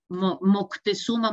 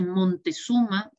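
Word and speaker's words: Moctezuma: entonces como que lo es para nissan o moctesuma motel omar dice montesuma pues como eso muchísimos nombres de nombres en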